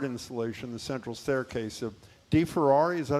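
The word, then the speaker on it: Deferrari: Here at the library, the newest art installation, the central staircase of De Ferrari, is that how you say it?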